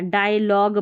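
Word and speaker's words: dialogue: Rule number 19 है pronunciation of GUE, यानी शब्द के अंत में GUE हो तो GUE का उच्चारण ग होता है, ठीक है, ये ध्यान रखना है।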